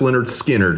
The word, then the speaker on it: Lynyrd Skynyrd: In the case of Led Zeppelin 4 versus Leonard Skinnard, pronounced Leonard Skinnard.